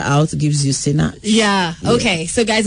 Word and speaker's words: Sinach: So the first letter and the last letter out gives you Sinach. Yeah. Okay. So guys, when you pronounce everything, nothing is silent. Not Sinach.